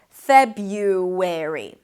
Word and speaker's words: February: to a front vowel, what you get is an intrusive sound that sounds like a W sound. Listen, February.